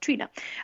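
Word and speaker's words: Tríona: Spelled Triona, but pronounced Trina.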